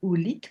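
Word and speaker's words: howlite: Alors ça s'écrit ovlite, mais ça se dit oolite, comme s'il y avait un U à la place du W.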